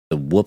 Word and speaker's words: Whoop: Whoop strap, hit us up. We're about to give you a free. It's pronounced whoop, actually. Whoop. Whoop. Like, you're talking about me getting my ass beat by my parents.